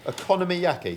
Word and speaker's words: okonomiyaki: Okonomiyaki. I had think economy. Is that what you pronounce it? No, I think Okonomiyaki. So think economy, but then economy. Okonomiyaki. And then yaki.